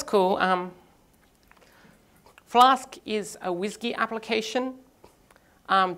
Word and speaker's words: WSGI: um flask is a whiskey application um wsgi which I've also heard pronounce whiskey but then I didn't